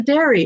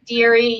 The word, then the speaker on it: Dery: today we have dairy it's dairy am i saying it right very deary yep deary oh which is it it's theory right most people say dairy but it's actually french so it's dairy deery